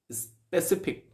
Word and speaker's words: specific: एज an adverb स्पेसिफिक, the stress is on that middle syllable, स्पेसिफिक, right. इसका जो stress है ये बहुत मायने करता है।